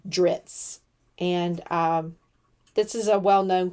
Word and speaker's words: Dritz: Oh, and this is drits, not dirts. My bad. I've probably mispronounced that my entire life, but it is DRITZ, drits.